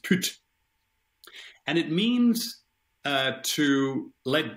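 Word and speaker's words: pyt: words uh now but it's spelled p-y-t and it's it's uh it's pronounced put and it means to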